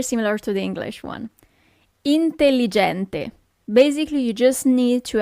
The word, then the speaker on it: intelligente: Intelligente.